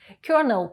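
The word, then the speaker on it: colonel: the filled and Birds Зверніть увагу на вимову слова воно пишеться як колонел але вимовляється як Кернел полковник знак розрізнення дві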